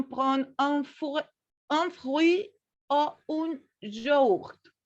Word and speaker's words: yaourt: En dessert, on prend un fruit ou un yaourt. Recuerda, un yaourt. Yaourt. Tu fais yaourt.